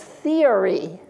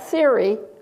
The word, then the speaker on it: theory: How many syllables in this last word? It's three, isn't it? It's theory. It's not theory. And you hear it when I say theoretical. Theoretical. Then you can hear it.